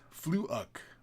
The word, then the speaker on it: Fleuk: Fleuk. Sorry, Kris. My name is pronounced Fleuk. It's Irish word for wet damp.